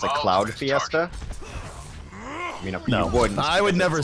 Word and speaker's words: Cloud: you say it's a cloud Fiesta I would never say that there's actually one point really early in OverWatch casting where I accidentally said clown instead of cloud for C9 and I felt terrible